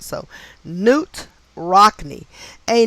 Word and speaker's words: Knute: So I'm assuming KN is the K is silent. So Knute Rockne, a name with gematria of 47 and 137, not uncommon for celebrities.